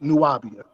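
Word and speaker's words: Nuwábiya: B i y a which is which is pronounced nuabia and when they when he asks hey where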